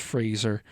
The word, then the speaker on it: Fraser: Dickie Roberts' former childhood star fans will know that it's pronounced Fraser.